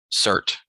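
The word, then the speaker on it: Surtr: Is it Surtur? Cert. There's not an R after? There is, but it's not pronounced.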